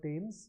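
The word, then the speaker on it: Thames: a river in London it's called tames although it is spelled with a th so set tames on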